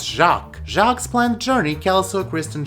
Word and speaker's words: Jacques: Houseplant Heather, Hoya Heather, Chucks. That's not how you say it, Miro, it's Jacques.